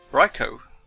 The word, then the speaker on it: Raichu: raicho well you've heard it here the correct pronunciation for this Pokemon is raicho all right so I haven't been doing very